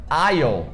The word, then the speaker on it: aisle: Então, island, island. É a mesma coisa da palavra aisle. Aisle, que também tem um S e a gente tira na hora de falar, e aisle significa corredor.